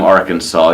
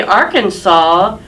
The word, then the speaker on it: Arkansas: just apostrophe so because it's spelled with an S at the end but you don't pronounce this when you're just in